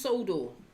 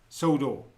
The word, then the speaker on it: Sodor: that's for sure so there we go it's pronounced Sodor Sodor there we go you want to argue with